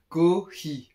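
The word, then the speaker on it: コーヒー: Ko-hi, ok. Mais ça ressemble à coffee.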